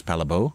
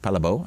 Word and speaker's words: Palle Bo: more if I say my name is palabo it's like okay that rolls off the tongue and they and I rarely get the question what was oh palabo I can say that it's weird and